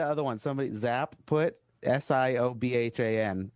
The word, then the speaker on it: Siobhan: one somebody zap put s-i-o-b-h-a-n pronounce that one where are we at wait okay wait it's uh youtube's zap no zap action oh i uh i should know that siobhan there you go that's siobhan i work with chicago